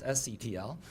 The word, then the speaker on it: SCTL: Instead of GTTL, it's SCTL, which rhymes with Seattle, and there's something you got to do with that at some point, right?